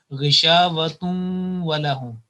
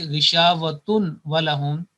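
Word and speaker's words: غِشَاوَةٌ وَلَهُمْ: So the right pronunciation will be ghishavatun walahum. If we say ghishavatun walahum, as waw is separate and ghishavatun noon is producing by tanween, then we will not be applying the rule, which is the part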